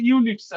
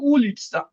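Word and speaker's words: улица: ওখানে আমরা উচ্চারণ এখন ইংলিশ দেখে অনেক সময় বা কিছু দেখে বলতে ইউলিটসা, এটা ইউলিটসা না, এটা উলিটসা, উলিটসা কাজাকোভা।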